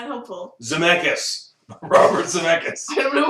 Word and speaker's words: Zemeckis: Starts with the Z and it rhymes with Zemeckis. It's not helpful. Zemeckis.